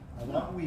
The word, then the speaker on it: Adaui: Y Katia, gracias por acompañarnos, Katia Adawi. Yo tengo que pronunciar acento en la I. Adawi. Adawi. Adawi. Con acento en la I le dije.